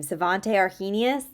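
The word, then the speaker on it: Svante Arrhenius: butcher his first name svante arenus I think is how you pronounce it and he you know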